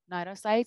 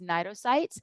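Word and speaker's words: cnidocytes: second but these nitocites notice the sea is silent you don't go nitocites it's nitrocytes that they're tentacles and they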